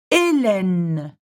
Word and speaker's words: Hélène: Et, Hélène, Hélène.